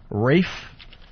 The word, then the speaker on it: Ralph: want to say this I think Rafe even though his name is spelled Ralph yeah Ralph Fiennes it's